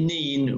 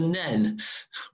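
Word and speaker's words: Nene: part of the river Nen, or Neen. I was pronouncing it Neen when I was on the boat, and I was corrected by locals to call it the Nen, which is correct.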